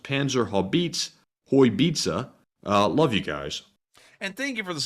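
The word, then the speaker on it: Panzerhaubitze: And up next, we have a $12 super chat from Shannon Jane, who says, just a heads up, it's pronounced Panzer Haubitze.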